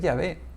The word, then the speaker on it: Yahvé: el Antiguo Testamento, es Yahvé. Es la pronunciación más cercana.